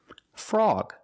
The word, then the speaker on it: frog: at some other examples frog the O is before the G so it's not frog it's frog frog and this word